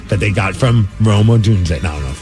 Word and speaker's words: Odunze: And I don't even know the guy's how to pronounce his last name, but it's Odunsdog. It's named after rookie Rome Oduns or Odunze? Odunze.